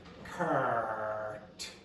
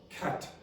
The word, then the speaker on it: cart: I would pronounce this cart. Say that cart. Cart cut.